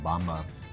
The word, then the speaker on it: Bamba: like peanut butter flavor is that how you pronounce it bamba yeah it's just bamba this would be a